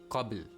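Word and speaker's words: قبل: You still bounce it, but lighter and quicker, like the word qabl. Qabl. You pronounce the qalqalah, the echoing sound, but lightly.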